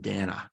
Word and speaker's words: Dana: Yeah, it's spelled Dana, but it's actually pronounced Dana.